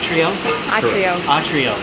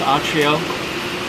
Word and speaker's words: Atrio: and we're at the am I pronouncing it correctly at Trio I think I've been singing each Rio it's atrio Wine Bar and restaurant uh